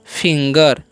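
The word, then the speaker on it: finger: और इसे हम पढ़ते हैं फिंगर। ठीक है, इसे फिंगर, यानी कि ये जो है अपवाद में है, तो आपको ध्यान रखना है कि जी है फिर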